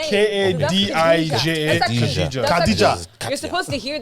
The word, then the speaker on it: Khadija: Khadija.